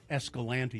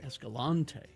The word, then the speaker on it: Escalante: She calls Escalante, Utah, Escalante. Escalante. And I said, but the people who live there call it Escalante.